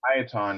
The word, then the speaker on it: Tieton: So it's pronounced Tieton.